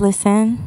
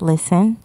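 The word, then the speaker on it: Lizzen: My name is Listen. I spell it L-I-Z-Z-E-N, but it's pronounced Listen.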